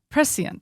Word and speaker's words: prescient: you say that word prescient prescient that's right now I say it at least okay um